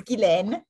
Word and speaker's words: Guylaine: No, it's Guylaine.